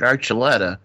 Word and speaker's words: Archuleta: And I know how to pronounce this. David Archuleta, singer finalist in the American Idol, don't you know?